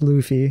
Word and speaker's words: Luffy: Luffy because it's a if it's based off the anime character it's Luffy yeah it's based off